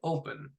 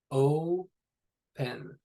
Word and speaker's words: open: So take a look or listen, I guess, at how you would pronounce the word open. O-pen. Oh, you don't really have much of a w, the wispy kind of w sound with it. It's just open.